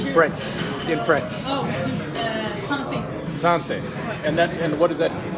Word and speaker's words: Santé: Santé is how you say it.